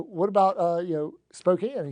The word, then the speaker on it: Spokane: So, episode 351 with Carl Hillesland about Spokane, Washington. So, it let's start here. It is Spokane, not Spokane.